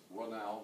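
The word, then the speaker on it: Raynal: Major, and I looked up the pronunciation, I understand it's Runau, not Reynau, but Runau is in Canal, Bowling.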